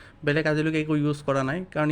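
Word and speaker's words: Blanc: বি এল এ এন সি নাম হবার লাগে ব্ল্যাঙ্ক কিন্তু একচুয়ালি একটু ব্লক বলে প্রোনাউন্স করে সো ফ্রেন্ডস এ পারফিউমের কোয়ালিটি ইয়ার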